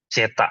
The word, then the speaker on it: zeta: Ini membacanya zeta ya. Saya pernah dengar dosen saya tuh bilangnya Ci ya, bukan Zeta. Coba, Zeta. Bener nggak? Simbol. Iya, Zeta yang ini. Nah, ini, betul. Jadi bahasanya Zeta, yaitu istilah apa simbol untuk damping ratio.